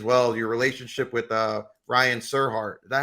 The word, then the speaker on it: Serhant: Your relationship with Ryan Serhart. Is that how you pronounce his last name? Sirhan, Ryan Sirhan. Serhant.